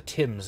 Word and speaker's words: Thames: It took me the whole day to cross the Thames and come back. It's pronounced Thames.